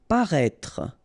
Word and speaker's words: paraître: Paraître. Paraître. Remember, you've got this accent circumflex on the top of E, but then you don't pronounce it, and then don't insist on this final E.